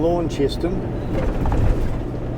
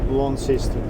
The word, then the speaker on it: Launceston: From Launceston. Launceston. Yeah, Launceston, sorry. Bloody Kiwi can't pronounce his words.